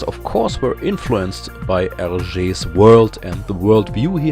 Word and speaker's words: Hergé: He found his pen name by taking his own initials, turning them around and pronouncing them in French. R.G. Hergé.